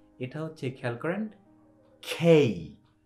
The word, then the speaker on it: K: বলেন তাহলে আপনি অটোমেটিক কি বলবেন কিং কিংডম কিচেন কাইট খেয়াল করছেন সো আমরা লেটারের ভুল উচ্চারণের কারণে কি আমাদের শব্দেরও ভুল উচ্চারণ হয়ে যাচ্ছে সো ইটস নট কে it's always খেই খেই খেই খেই ওকে এর পরের